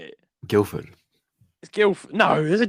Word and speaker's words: Guildford: it Guildford you know you don't really pronounce it Heavy D I've noticed that though I've noticed people just say Guildford okay all right okay all right Guilford then I like Guildford